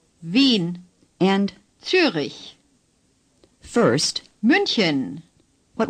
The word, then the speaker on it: Wien: Say Wien. The W in German is pronounced like our V in Vienna. The IE is a long sound. Long I, as in Berlin. Say Berlin. And now say Wien. Wien.